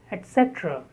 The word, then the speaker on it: etc.: 45, etc. Etc. Stress on cetra, second syllable.